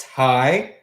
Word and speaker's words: Ty: My name is, just so you guys know, my name is pronounced Ty, but it's spelt differently. But to avoid confusion, I just spell it the way it's, I spell it the way it sounds.